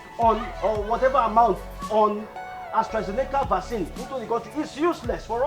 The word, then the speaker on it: AstraZeneca: been treating ourselves with astra zeglecka vasin astrazeneca that's the right pronunciation vaccine brought in from